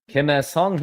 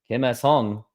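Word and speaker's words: Kim Ha-seong: Kim Hae-sung hits a home run. That's how you say it in the Korean way. You have to say the last name first. Kim Hae-sung.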